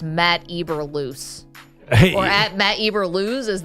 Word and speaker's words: Eberflus: I'm laughing because the copy here says Matt Eberflus.